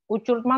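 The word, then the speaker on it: uçurtma: Ucurtma layang-layang. Nah, tadi saya bilang ya, C yang ada ekornya itu gimana cara membacanya? Sama seperti bahasa Indonesia, yaitu cerita cinta cantik. Yaitu, jadi cara membacanya ucurtma.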